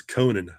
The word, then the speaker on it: Conan: It's like Arthur Conan Doyle, but I can't help but saying Conan.